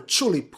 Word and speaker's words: Chulip: On place 9 we have Kulip or Chulip, however you pronounce it, I will pronounce it Kulip, and well, it's a unique game.